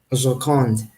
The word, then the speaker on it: Joconde: How do you pronounce in French? Joconde, les Joconde.